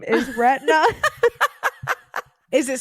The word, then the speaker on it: Retna: But there is an artist, like a musical artist, and his name is Retina. Is it spelled like the right way?